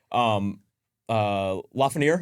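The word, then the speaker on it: Lafrenière: Lafreniere, is that how you pronounce it?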